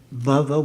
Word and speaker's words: bhava: verse is bhava at bhava with a you could say a short a as opposed to baba with a long a baba means you could